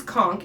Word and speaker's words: conch: it drives me absolutely crazy so it is conch and if you go anywhere in the world